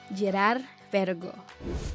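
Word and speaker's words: Girard-Perregaux: twist so inhale deeply and say it again Gerard Vergo number five Maurice Lacroix the Swiss company collaborates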